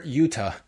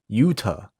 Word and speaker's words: Yuta: Do you feel the like when you see Yuta, it's a hard T rather than the soft T like in Toronto? I say Yuta. Yuta. What's a soft T? What's a soft T? Well, like Yuta, like pronouncing like a D. Almost. Oh, Yuta. Yeah, I might say too fast and revert to D.